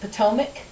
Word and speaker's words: Potomac: It's written Patawomack. In English, we pronounce it Potomac.